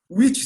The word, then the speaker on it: which: Quando aparece a palavra witch, ela não pode confundir com a palavra bruxa, que se pronuncia igual, mas a escrita é diferente. Which significa qual.